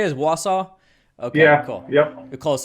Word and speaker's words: Wausau: wausau is that is how you say is wausau okay yeah cool yep close enough right so